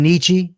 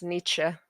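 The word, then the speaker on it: Nietzsche: I like some Nichi.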